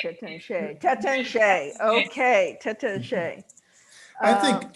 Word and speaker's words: Taittinger: I've been to Taittinger, and they provided the appropriate pronunciation, which is Taittinger.